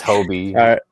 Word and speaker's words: Hobie: Bert said it's Hobie.